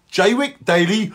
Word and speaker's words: Jaywick: of radio show called J week daily live say it like you would say suffered J wick daily why use you get